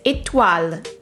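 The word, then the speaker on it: Étoile: star in french and her name is itwal this word means star in french and there is an accent a gu on the e which makes the e sound closed so it's and you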